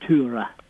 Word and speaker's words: Tora: Her name, we would normally call her Tora Berger. Yes. But they would pronounce it Tura.